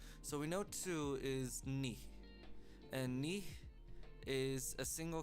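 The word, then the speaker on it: 二: yeah it's basically just if you know how to say me as in like your kneecap it's the same pronunciation uh basically knee knee it's just a little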